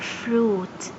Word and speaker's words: fruit: Friend I is silent. As you can see here, I read it as oo.